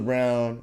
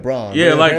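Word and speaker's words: Braun: I'm crazy no but is it Brown I know or I know cuz way they spell it on b n so it's spelled like Bron pronoun if they're getting your name wrong bro like let them know like get your name right man appar it's brown brown I I wasn't sure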